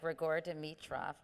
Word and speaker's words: Grigor Dimitrov: But I know you dated a number of professional athletes, like Grigor Dimitrov. Is that, I'm pronouncing these names No, that's correct?